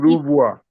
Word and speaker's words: renvoi: demonstrating the The correct Anglo-Nigerian pronunciation is position. Rouvoir. Is Rouvoir.